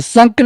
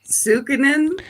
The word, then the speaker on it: Sukanen: Now, correct me if I'm wrong, the Sunken and Pioneer Village and Ship Museum. Did I say it right? Sukinen.